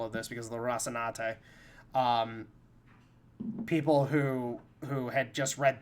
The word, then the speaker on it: Rocinante: te at the end, and so you say Rocinante, and you know that's how you're supposed to fucking say it.